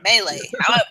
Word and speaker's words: melee: Melee. Everyone says it differently, and everyone's gonna yell at me from either side. All 4 of us pronounce it differently. Melee. Yeah. I think the proper way is melee.